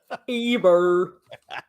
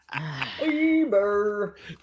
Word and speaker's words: Eber: pronounced Heber. Eber. Eber.